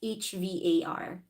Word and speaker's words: Hvar: I'm not sure how to pronounce that again. It's Hvar.